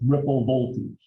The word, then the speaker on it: V ripple: ripple or ripple voltage it's spelled v-rip or v-ripple it is spoken as ripple voltage okay and what is